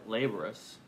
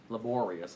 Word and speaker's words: laborious: duties changed it became much more laborous laborious i guess is the word i want not laborous get the accent on the right syllable there page 11 thursday's lesson